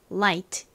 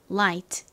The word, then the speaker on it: light: 써 보도록 하겠습니다 먼저 l I like 묵음 g h 끝에 트티 발음 연습해 볼게요 light 한 번 더 light 자 빛 가벼운이라는 의미의이